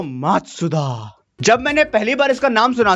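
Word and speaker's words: Matsuda: धीरे धीरे बोलूं तो मात्सुदा।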